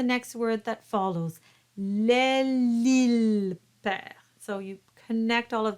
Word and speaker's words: perd: word that follows, l'île perd. So you connect all of that. It's called the liaison. Par-dessous l'île perd. The R is rolled, but the D is silent.